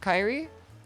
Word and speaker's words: Kyrie: The second pronunciation is correct, Kyrie.